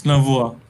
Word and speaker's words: Navua: Am I pronouncing that correctly? Yes, it's Navua.